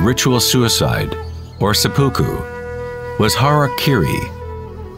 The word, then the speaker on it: harakiri: suicide or seppuku was harakiri was often mispronounced as harry kerry it means to impale